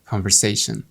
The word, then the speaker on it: conversation: بص كده كام عملية بحث مكتوبة conversation دي اس مش زد. conversation.